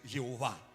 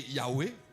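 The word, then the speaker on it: Yahweh: prononciation ça qui c'est Jéhovah mais ça qui utilisé avant c'était Yahwé très probablement c'est pas Jéhovah c'est pas et prononciation originale là et normalement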